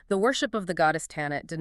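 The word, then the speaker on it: Tanit: The actual historical footprint of tinit, which is much more accurately pronounced and historically recorded as Tannet belongs to Carthage.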